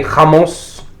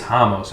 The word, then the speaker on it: Ramos: I think it's Ramos. He's Brazilian, and they pronounce their R's like H's.